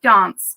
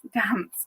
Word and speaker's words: Dance: But I now live in the south of England, where everyone pronounces my name Dance, whereas I say Dance.